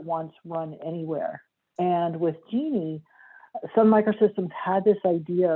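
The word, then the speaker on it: Jini: It's spelled J-I-N-I, but pronounced like the woman's name, Genie.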